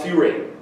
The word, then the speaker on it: furan: This compound is called furane. It's spelled furan, but it's pronounced furane.